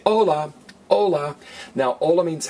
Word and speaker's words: hola: letter H anybody say hola hola now all I means hello it's spelled hol a but it's pronounced hola the H is silent you don't want to